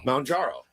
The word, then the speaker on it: Mounjaro: Mounjaro. It's M O U N, so like mountain.